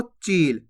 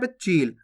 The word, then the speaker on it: चील: से सुनना है देखो चील किलर पता पड़ चील बोलते चिल यानी कि जल्दी से उच्चारण होएगा तब तो छोटी ई की मात्रा लग जाएगी चिल और खेच के होगा चील तो बड़ी ई की